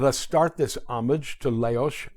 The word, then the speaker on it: Leoš: Janáček's name is notoriously mispronounced by non-Czechs. His first name, Leoš, is easy enough, Leoš.